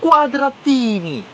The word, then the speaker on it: Quadratini: It's called It's called like uh cuadra quadratini. What is the pronounce of quadra? It was quadratini.